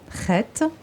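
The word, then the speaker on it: חית: On le prononce comme ça, Chet.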